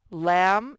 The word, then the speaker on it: lamb: slam num crab lamb and num both ended with the m sound and that m sound is spelled with an m b okay kite not not